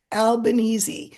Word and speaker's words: Albanese: I think I said Albanese. But anyway, Yeah. I was informed. People told me phonetically how to do it. Albanese.